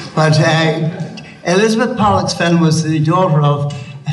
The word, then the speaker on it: Pollexfen: We've got to pronounce that word very carefully. Pollux, P-O-L-L, in case you think it's something else. But Elizabeth Pollexfen was the daughter of a Sligo merchant.